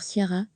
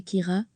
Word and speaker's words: Ciara: Si nos confrères français semblent unanimes sur Ciara, ils se fourvoient néanmoins. La prononciation exacte est en fait Kira, à la gaélique, les Britanniques du Meut-Office